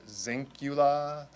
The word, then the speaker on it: Zinkula: new group of people it's easy easy to remember think of Dracula Dracula Zula Dracula he he wears black